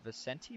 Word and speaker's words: Vicente: it's Vincent Guerrero you know I do apologize I keep saying Vincent I believe it is pronounced Vicente Maybe small fonts make